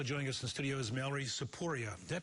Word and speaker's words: Tsipouria: all right also join us in studios Mallory saporia did I pronounce that correctly Mallory yes saporia he is